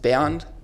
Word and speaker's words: Bernd: Actually, my name is, in Germany, my name is pronounced Bernd, but I always say Bernd.